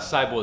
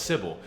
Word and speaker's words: Sybil: because I learned that it's not Seibel it's Sybil you guys cyberbully me